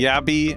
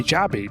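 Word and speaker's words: jabbi: Yeah, I like to do that as well because J isn't pronounced in a lot of languages. Like it's pronounced with a Y, you know, in a lot of languages.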